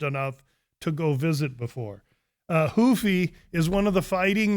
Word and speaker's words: Ruffy: If I was to say, if I screwed up Ruffy, I give up. No, he's Brazilian, so he pronounces it Hoofy.